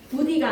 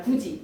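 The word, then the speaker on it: 굳이: 부디가 아니라 구지.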